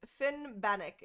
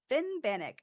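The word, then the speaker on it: Finnbhennach: capitalized bull all caps Finn banck Finn banck is what it's Finn banck okay Finn banck oh it wasn't too bad I wasn't too far off fin banic it's just some of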